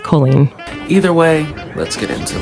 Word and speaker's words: Colleen: Now, Miss Colleen Ballinger, or is it Colleen? My name's pronounced Colleen.